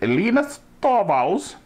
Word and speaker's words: Linus Torvalds: Linus Torvalds. That's the way he pronounces it. Linus Torvalds.